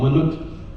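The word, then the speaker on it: มนุษย์: We are called Manut in Thai. What we Nepalese call Manushya. But when we write, we also write Manushya in Thai language. But we pronounce it Manut. But in Nepalese, they just pronounce it as we write it. Manushya. And we call Manut.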